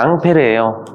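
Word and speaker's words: Ampère: 많아 과학자들 이름 땁니다 사실 암페어가 앙페르에요 낭패를 스펠링을 다른 방식으로 읽으면 암페어로 읽힌단 말이야 그래서 안 배워 쓴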